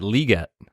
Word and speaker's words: Legette: He pronounces it Legette.